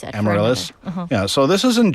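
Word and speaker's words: Amaryllis: Amarillis.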